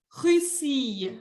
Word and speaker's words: Russie: Le pays, on dit la Russie.